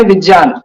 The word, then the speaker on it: विज्ञान: को हिंदी में लोग विज्ञान बोलते हैं जबकि उसका सही उच्चारण है विज्ञान जो जिसे हम ज्ञ बोल रहे हैं वो असल में ज और य का संयोजन है ठीक है तो